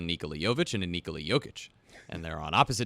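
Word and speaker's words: Jokić: in Spanglish yeah so it's jokic jokic they don't call him yolker jokic yeah put it on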